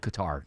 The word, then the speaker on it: Qatar: It's pronounced Cutter was what George W. Bush called it. It's called Qatar.